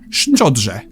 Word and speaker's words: Szczodrze: Sh O D Rz E Szczodrze.